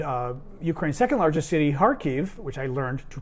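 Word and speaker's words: Kharkiv: it's pronounced harke or harkiv like an h at the beginning or greek which we use and at the end so harkiv they've been using cluster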